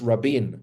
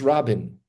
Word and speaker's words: Rabin: it no no no in English everyone always says Rabin Rabin yeah here it's Rin um anyway he's the